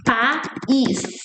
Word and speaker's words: pais: Because most of the times, generally speaking, we Brazilians, we pronounce like they're the same thing. Like we add an E at the end. It's like paz. It's pais.